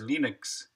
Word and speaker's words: Linux: name's Linus Torvalds, and I pronounce Linux as Linux."